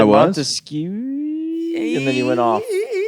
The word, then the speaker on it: Montesquieu: It's pronounced E-I-E-I-O? Montesquieu.